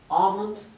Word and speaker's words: almond: La A se pronuncia entre una A y una O y la L no se pronuncia.